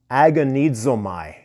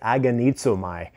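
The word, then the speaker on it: ἀγωνίζομαι: contend and it's from a greek word agonizomai and if you were listening to how i pronounce that it has kind of like uh a hint of the english word agonize right aganizomai and it's similar to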